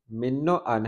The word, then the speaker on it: من و عن: پھر بتا دوں کہ اکثر لوگ اس کا تلفظ جو ہے وہ غلط کرتے ہیں۔ من و ان ہے، اس کو من و ان پڑھتے ہیں، تو مطلب یہی